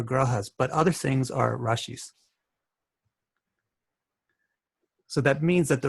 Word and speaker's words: rashis: little bit different right but there's also rashis rashis to pronounce it right so this is so interesting